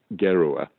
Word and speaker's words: Gerua: He was an architect, and in Russian they pronounce H's as G's. So in Russia he became Gerua with a hard G.